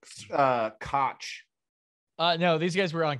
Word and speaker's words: Koch: Yes, yeah, it's pronounced Koch.